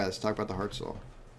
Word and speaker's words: Hartzell: All right, let's talk about the Hartzell. Or how's it pronounced, Tyler? Herzl. I like that.